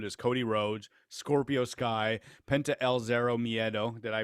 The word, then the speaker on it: Penta El Zero Miedo: so already confirmed is cody rhodes scorpio sky penta el zero miedo did i pronounce that properly yeah yep lance archer and